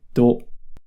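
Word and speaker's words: ど: To with the dakden is pronounced do.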